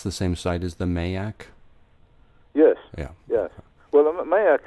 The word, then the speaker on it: Mayak: They were pointing at that Mayak. I don't know if that's how you pronounce it. Yes, Mayak, yes.